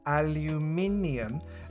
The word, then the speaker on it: aluminium: Repeat after me. Aluminium. I'm a science teacher, for goodness sake. I know what I'm talking about. Aluminium. And as a result, you're saying it wrong.